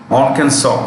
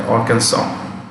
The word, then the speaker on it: Arkansas: family brothers and sisters arkansas the s is silent the last test is silent arkansas chica it's also this